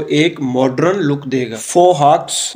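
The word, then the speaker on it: fauxhawk: फोहॉक्स, इसका जो एक्स है वो साइलेंट है।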